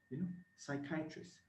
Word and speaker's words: psychiatrist: So when you pronounce them, you can actually, psychiatrist, sigh. You can see the S, but the P is silent.